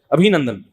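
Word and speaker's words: ابھینندن: ابھی نندن نہیں ہے، صحیح تلفظ کیا ہے بھائی؟ ابھی نندن.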